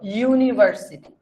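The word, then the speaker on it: university: একটু এক্সপ্লেন করি যে কোনটা কেন খেয়াল কর ইউনিভার্সিটি ইউ ইউ হলে কি হয়?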